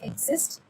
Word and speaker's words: XIST: So the process is XIST pronounced exist, includes a large RNA molecule, codes XI from the XIC near the centromere outward along the X chromosome.